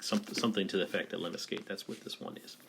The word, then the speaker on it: lemniscate: And this one's called, I think it's pronounced lemniscate. Don't hold me to it, but I think something to the effect of lemniscate.